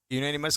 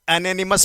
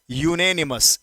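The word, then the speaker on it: unanimous: यूनानिमस का मतलब एक मत। अब इसको कई लोग एनोनिमस पढ़ते हैं, अनोनिमस, जो गलत होता है। इसका सही प्रोनाउंसिएशन होता है यूनेनिमस, यूनेनिमस, यूनेनिमस, यूनेनिमस।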